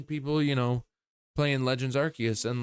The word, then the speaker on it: Arceus: Just because a word is in another word doesn't mean you pronounce that other word with the same pronunciation as you did with the first word. You know? Like just because it's pronounced, just because I pronounce it Arceus doesn't mean that I should have to pronounce it Arsephone, because arc is its own word.